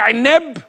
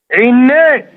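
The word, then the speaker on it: عنبة: في البيت بيقولوا لك يا عنب؟ هي ما بتتنطقش كده. امال بتتنطق ازاي؟ عناب. عناب.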